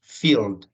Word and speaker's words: field: de un Field cierto la e no se pronuncia decimos Field que es un Field